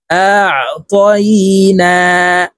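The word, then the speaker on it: أَعْطَيْنَا: আইন হরফকে হলকের মধ্যখান থেকে চাপ দিয়ে উচ্চারণ করব। আ। প্রিয় দর্শক, আপনারা আমার সঙ্গে বলার জন্য চেষ্টা করুন। আ ত ইয়া জবর তই, নুন খারা জবর না। আ'তাইনা।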